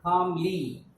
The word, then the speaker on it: calmly: Next word we underline calmly. CALMLY. Calmly. Okay, there is one silent letter in this spelling. CA, calm. L is silent, calm.